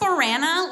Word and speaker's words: Brana: It's pronounced Barana like Alana, but with herpes.